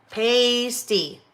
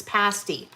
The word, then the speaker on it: pasty: If you're Michigan, Wisconsin, it's a long pasty. Otherwise, it's pasty.